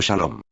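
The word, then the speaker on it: שלום: Salem es la original palabra hebrea que significa paz, y que hoy se pronuncia como Shalom.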